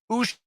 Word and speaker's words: Uche: In case you were unclear on the pronunciation of his last name, it is Uche.